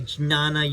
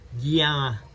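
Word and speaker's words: ज्ञान: Or they might say jnana yoga. But it's really more like a nya or a gya. Gyana, gyana, gyana, meaning knowledge or wisdom, gyana.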